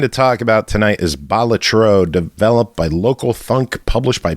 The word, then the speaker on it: Balatro: I think it's Balatro. Balatro, I believe. That's how I've heard it pronounced.